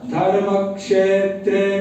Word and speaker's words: धर्मक्षेत्रे: धर्मक्षेत्र कुरुक्षेत्र धर्मक्षेत्र कुरुक्षेत्र एक नियम और है बीच में उच्चारण करेंगे ब समथ जब भी कोई संयुक्त अक्षर आता है संयुक्त अक्षर या कोई आधा आके उसके बाद कोई पूरा आता है वहां पर थोड़ा सा ब्रेक होता है थोड़ा सा ब्रेक होगा जैसे धर्म क्षेत्र धर्म क्षेत्र कुरुक्षेत्र य डिफरेंस धर्म क्षेत्र कुरुक्षेत्र धर्मक्षेत्रे कुरुक्षेत्र